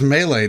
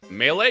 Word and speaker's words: melee: right now mystery house melee dude melee you said it right i know he normally says mele let me do i